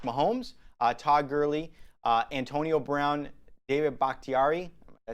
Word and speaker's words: Bakhtiari: This contains a choice of an 87 overall core elite Patrick Mahomes, Todd Gurley, Antonio Brown, David Bakhtiari. Did I say it correctly? David Bakhtiari.